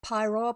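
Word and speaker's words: Paeroa: Uh, so look up pyro p a e r o a.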